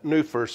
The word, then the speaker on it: Nuffer: Well, he and I, Newfers, the way it's pronounced, although it's spelled Nuffer, we started with, I